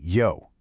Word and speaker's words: 魷: The official start of the event is called Only Yo. Now, there's a super clever pun happening here. The Chinese character for squid is pronounced yo, which sounds almost exactly like the English word you.